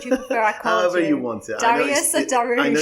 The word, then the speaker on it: Dariush: in place to do that so let's welcome dariush to the podcast today thank you zoe thank